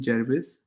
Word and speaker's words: Gervais: How do you pronounce his name? Ricky Gervais.